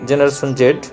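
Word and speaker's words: Gen Z: British উচ্চারণে জেনারেশন জেড আর American উচ্চারণে জেনারেশন জি।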